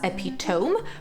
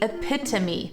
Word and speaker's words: epitome: the noun epitome yes you might be tempted to pronounce it as epitome but it's actually epitome and what it means